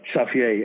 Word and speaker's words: Xavier: toughest guy in town his name was xavier in hollywood pronounced at saffier and he took me